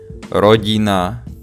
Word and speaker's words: rodina: Okay, so we are gonna pronounce this one as teta, this one as pekne, rodina, ticho, not ticho, not rodina, not pekne, but soft.